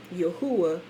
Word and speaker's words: Yahuwah: in our latin letters yahuwah yahuwah yahoo y a h u dash a h or y a dash h o o dash a h for proper pronunciation right clement of alexandria